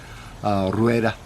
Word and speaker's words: Rueda: Rueda spelt that way I think the proper pronunciation would be to roll that are and kind of blend it all together kind of like Rueda raita anyway 13 percent ABV